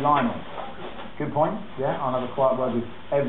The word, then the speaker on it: Lionel: Fan Frank close saying lonel Messi was named after Li Richie so why does no one pronounce his name Lionel good point yeah I